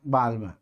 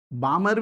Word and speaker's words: Balmer: 2 पर आता है तो उसको कौन सी बोलते हैं, बाल्मर। और 3 पर तो बाल्मर भी बोलते हैं, है ना। अब वो प्रोनाउंसिएशन तो देखो अलग अलग, बामर भी बोलते हैं।